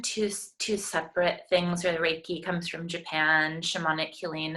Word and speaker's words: Reiki: I don't know how you pronounce it. Is it Reiki? Reiki, like Reiki, a ray of okay.